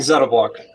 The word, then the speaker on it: ZettaBlock: is it Zeta or Zeta how do you pronounce it I think Zetta block Z Perfect all right we'll go with that